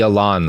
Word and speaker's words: Elan: Have you ever heard of the Elan School? No. How do you spell it? E-L-A-N, like the French word, Elan.